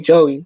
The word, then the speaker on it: Joey: what that's good bro i'm saying it right jay right joey joey not jay joey all right yeah my